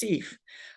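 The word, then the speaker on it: CEPH: The acronym is pronounced CEF.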